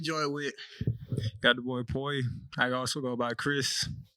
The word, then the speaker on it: Mpoyi: Got the boy Mpoyi. I also go by Chris, you know? Yeah. Amunhotep, I go by Tep, though. So that's how you say it, Poi. So the M Mpoyi. is extremely silent.